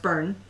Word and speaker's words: Byrne: letting us know john john byrne pronounced bernie and also it's called